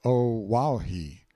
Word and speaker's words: Oahu: I named him after this island, Oahu, pronounced O Wahhei.